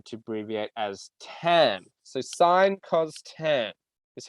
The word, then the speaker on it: sine: our three ratios are sine okay um which is sometimes spelled as uh s i n e okay but simplified as sin but we pronounce it sine not sin pronounce it sine uh